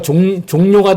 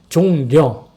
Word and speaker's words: 종려: 지키는 주일이 바로 종려주일이에요 사람들이 발음을 잘해야 돼요 뭔가 종료가 됐다 종려주기를 하는데 종묘가 아니라 종려 종려 왜 종려주일이냐 종려나무 가지를